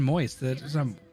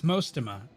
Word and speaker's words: Mostima: Hey, guys, you can't keep saying moist. It's Mostima.